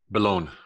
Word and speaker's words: Belone: Belone.